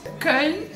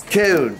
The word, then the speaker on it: Köln: Köln. Köln.